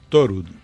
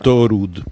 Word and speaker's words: Thorud: Torud. Thor. Torud. Torud. Como el dios Thor, porque es una un apellido noruego.